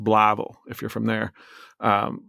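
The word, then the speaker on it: Blytheville: They had met when he was in the Air Force in this town called Bllyville, Arkansas. It's pronounced Blavl if you're from there.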